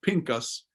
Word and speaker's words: Phinehas: And here is where Phinehas, or Pinchas, as it would be pronounced now, Phinehas, the son of Eleazar, the